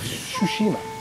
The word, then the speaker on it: Tsushima: Yeah, another game, Ghost of Tsushima. It's a very hard one to pronounce because it's got a silent T, Tsushima.